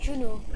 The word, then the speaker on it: Juno: It's pronounced the month June and then O at the end, Juno.